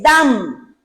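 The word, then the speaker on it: דם: La palabra sangre En el hebreo se dice dam. Se escribe la D y la M. Esas son las dos consonantes.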